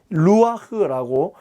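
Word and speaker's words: רוח: 중요한 이 의미를 전달하는 것은 바로 이렇게 생긴 이 히브리어입니다. 루아흐라고 읽습니다.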